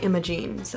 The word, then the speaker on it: Imogen: it right i think i would have said imogen about that one but i've heard some people say imogenes oh well posh or not